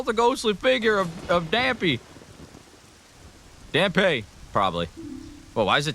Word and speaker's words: Dampé: I say it like Dampé. Oh, it is probably Dampé, like Pompeii.